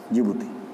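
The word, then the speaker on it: Djibouti: इसकी स्पेलिंग थोड़ी सी डिफरेंस है, DIJIBOUTI, जिबूती।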